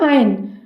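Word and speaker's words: iron: इसके प्रोनाउंसिएशन पर ध्यान देंगे, इसे हम आयरन नहीं कहते, इसे हम बोलेंगे आयन।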